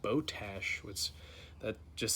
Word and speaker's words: Botach: 4 plate that is from boat AK or as the company themself pronounces it boat ash what's that just sounds